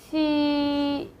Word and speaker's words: qī: We'll say like Chi, Chi. So again, put your tongue against the hard palate, and then leave it and let the strong air comes out. We can use English again, like cheese.